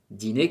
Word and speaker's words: dîner: Dîner, ¿qué es? La comida de la noche, dîner. La R no suena.